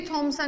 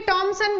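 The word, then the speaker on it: Thomson: तो परमाणु में ऋणावेशित कणों की खोज सर जे थॉमसन ने की। जे थॉमसन, किसी में टॉमसन भी लिख रहा है बच्चों, कोई प्रॉब्लम नहीं है आपको। टॉमसन थॉमसन में दोनों एक ही बात है।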